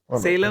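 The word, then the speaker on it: Salem: സേലം എന്തൊക്കെ ഡൗട്ട് ഉണ്ടോ സേലം സേലം എന്നാണ് പറയുന്നത് സലീം എന്നല്ല ജെറുസലേം എന്ന് പറയുന്ന സേലം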